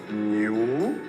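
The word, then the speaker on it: 牛: Happy New Year. The ox pronunciation in Mandarin is new, so it becomes Happy New Year.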